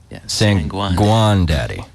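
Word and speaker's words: Sanguandadi: pay it forward san juan daddy am i pronouncing that correct saying guan daddy gotcha it's s-a-n-g-u-a-n-d-a-d-i and uh i think we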